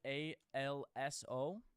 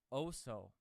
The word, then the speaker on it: also: All right, Bobby, you always transition with this word ALSO, but you pronounce it OSO, and it gets under my skin.